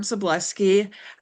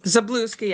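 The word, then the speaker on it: Zablocki: My name is Zableski. Um, Zablooki actually is the correct pronunciation.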